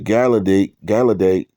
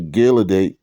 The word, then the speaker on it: Gileadite: It says that the daughters of Israel went yearly to lament the daughters of Jephthah, um, the Galadate, how you say it? The Gileadite, excuse me, 4 days and 4 days in a year.